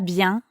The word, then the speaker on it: bien: So, ça va bien means it's going well. That's right. Ça va bien. Comment ça va, Estelle? Ça va bien. You might have noticed that bien also has a nasal sound.